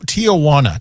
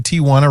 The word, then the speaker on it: Tijuana: Uh Faia Flats is hoping to Tijana. Tijana. It's a town. Okay. That's how you say it? Wrong. You've never seen Tijuana written out?